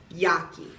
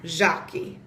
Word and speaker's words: Jackie: In Spanish, I might be pronounced Yaki, or even like Haki, because of like that H sound that Spanish letters can have. But in Portuguese, I'm Jaki, which I really like the sound of it.